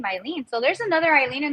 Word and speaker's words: Hailyn: It's in Spanish. The H is silent.